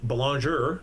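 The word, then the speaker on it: Belanger: And then uh we have um Buckley Bal Bologoner as we should be pronouncing the name properly.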